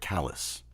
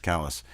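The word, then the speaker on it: Calais: that's uh pronounced around here these parts we pronounce that callus that's okay which is a mispronunciation in most people uh it's a you know an anglicisation of C so it's spelled CA and pronounced Callis and and it's a cute cool little place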